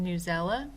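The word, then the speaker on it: Newsela: The next website that I want to point out to you is News ELA. I've also heard it pronounced Newsella.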